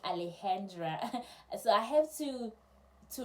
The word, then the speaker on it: Alexandra: a student called Alexandra when they write it is Alexandra but when they pronounce it remember they speak Spanish it's more like Alejandra so I have to